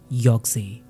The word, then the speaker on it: YOGTZE: उन्होंने तुरंत ही एक पेपर उठाया और उस पे 6 कैरेक्टर्स का एक वर्ड लिखा, और वो वर्ड था योग्जे, जिसकी स्पेलिंग थी YOGTZE।